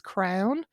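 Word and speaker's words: crann: tree in irish the irish for tree is crown um it's spelled c or a n n but pronounced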